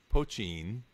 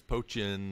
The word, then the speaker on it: poitín: would hear it as poitín, or I heard all sorts of different variations on it. Absolutely. But you actually put kind of a T sound on it instead of a CH sound.